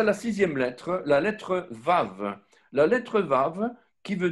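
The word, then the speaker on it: ו: Et donc, ce vav, c'est la sixième lettre. Elle se prononce de trois manières différentes. Soit c'est un V, soit c'est un O, soit c'est un OU.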